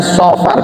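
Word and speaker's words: صفر: Safar so good beda Safar bukan Safar cara bacanya Safar karena pakai Shad bukan pakai Sin Shad Safar Safar itu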